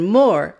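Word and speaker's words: mow: link here to learn more about the k-n letter combination here's another example meow yes that sound is called meow meow but if we take away the e the word becomes mo mo and h-o-w is how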